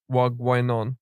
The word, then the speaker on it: wagwan: It's meant to be What's up? pronounced more like wag wine on.